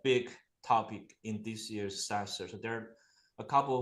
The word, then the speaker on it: SaaStr: How do you pronounce that? What is that exactly? SaaStr.